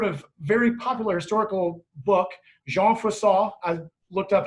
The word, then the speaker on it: Jean Froissart: And this sort of very popular historical book, Jean Froissart, I looked up how to pronounce his name, Chronicles.